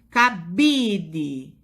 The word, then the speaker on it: cabide: cabide qual é a sílaba tônica da palavra cabide cabide é o bi então agora a gente